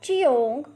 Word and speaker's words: jiong: The next Pinyin is Jiong, has a pronunciation of Cheong. Repeat after me, Cheong.